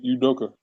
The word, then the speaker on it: Udoka: Yeah, Udoka.